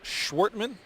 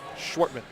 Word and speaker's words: Schwertmann: That is the 3rd on Schwartman. Schwertmann. 2 syllables. Schwartman.